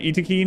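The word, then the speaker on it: Yttakin: EAC iin iin settlements uh by the way Eakin is how the developers pronounce it some people are like why do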